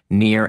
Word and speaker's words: Nir: And you want to enter in the discount code near and far. Now remember, near is spelled like my first name, N-I-R.